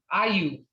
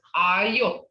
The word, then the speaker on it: ayo: And I've heard a lot of mispronunciation saying ayo, ayu. And it ain't that, it's ayo. And the reason why it's ayo is ayi-o, okay? Ayi-o.